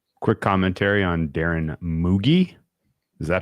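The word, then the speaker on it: Mougey: Quick commentary on Darren Mooi. Is that how we're saying it? Moo. I say moo. I say it like bougie. I say Muji like bougie.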